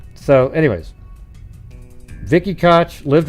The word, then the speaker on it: Koch: don't know that doesn't K doesn't sound like cook to me now if their family pronounces it that way then sure but that's how mayor Ed cotch pronounced his name same spelling yeah it